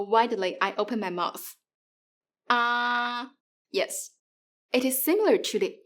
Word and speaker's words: a: very basic but very important part of chinese pronunciation the six simple finals look how widely i open my mouth ah yes it is similar to the r sound